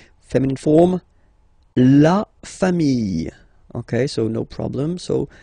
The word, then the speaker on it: familles: the plural form, les familles. Okay, remember, chien, singular form, chien, same pronunciation, but you put this s. Okay, final s not pronounced. Famille, singular form, famille, plural form, same pronunciation, s not pronounced.